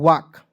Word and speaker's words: walk: बहुत लोग इसे वल्क पढ़ लेता है, टॉल्क पढ़ लेता है, बिल्कुल दोस्तों तरीका है। ठीक है, यानी कि बिल्कुल गलत तरीका है दोस्तों। ठीक है, मज़ा आ रहा है, गुलगुल तरीका नहीं, गलत तरीका। ठीक है, और हम लोग दोस्तों कभी कभी हम क्लास कराते हैं वहाँ पे गुलगुल तरीका भी बोल देते हैं, तो सब लोग बच्चा समझ जाता है, समझिए। चलिए WALK, तो इसे पढ़ेंगे दोस्तों वाक, W से व A